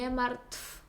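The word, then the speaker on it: martw: увага нам часто здається як же в кінці слова вимовити то в Ми кажемо март там ви бачите на екрані що написано в Але якщо це в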